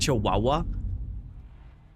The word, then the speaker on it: Chihuahua: Like there obviously is a W in there, a silent W in there which just doesn't come into the word. So it just confuses the out of me when I'm reading it. Chihuahua. It's it like when you read out loud it sounds like it says like chiliha.